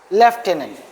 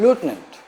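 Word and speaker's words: lieutenant: लटिनेंट governor जैसे हम लोग अपने उसमें बोलते हैं लेफ्टिनेंट बोल देते हैं लेफ्टिनेंट होता नहीं है वो लूटिनेंट हम लोग बोलते हैं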